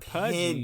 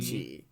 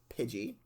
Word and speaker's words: Pidgey: Tiny Bird Pokemon pigling Pidgey oh Pidgey not pudy Pidgey yes there's it's an I not a you okay okay so it's pronounced Pidgey my bad um and it is known as